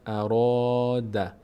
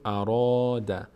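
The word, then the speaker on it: أراد: قاف خا و را اینجا میگیم اراد نمیگیم اراد اراد اراد ماذا ماذا ماذا اراد دقت کنید فرق بین تلفظ را و ذا و میم با اینکه همه اینا الف روشون هست این د تا اولی باری خونده میشن میم و ذا را پر خونده میشه ماذا ببخشین ماذا ماذا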